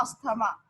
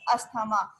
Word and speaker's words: asthma: that he has a asthma, but it's a wrong pronunciation. It's not asthma. So what is that? It's asthma, not asthma.